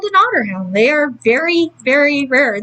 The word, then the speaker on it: Otterhound: OT t t r like the animal Otter Not water a lot of people seem to think water when they hear otter Hound I mean technically otter